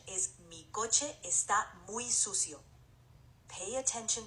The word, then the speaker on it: coche: The correct pronunciation is mi coche está muy sucio. Pay attention to the difference. Coche sounds like co-che and not coochie.